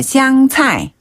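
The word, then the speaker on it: 香菜: 네네네요 고수를 중국어로는 차이라고 해요 시차 한번 더 샹차이 시차네 그 외에도 시금치라면 콩나물 가지 감자 고구마처럼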